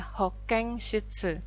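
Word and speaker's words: 保健室: Tapi penyebutannya N di sini jadi eng ya, Hoken Shitsu.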